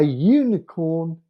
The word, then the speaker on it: unicorn: this case, but is pronounced with a consonant sound, use a. This sound is U and not O. Okay, so we've got I made an honest mistake. A unicorn seems magical.